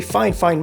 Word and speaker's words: FIFINE: see that this very fine fine microphone comes up as the second option and yes I'm saying fine fine on purpose this is how one of their sellers precisely asked me to pronounce it and this is where